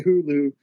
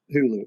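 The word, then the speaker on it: Huğlu: The G is silent. So to properly say Hulu, it's it's just Hulu.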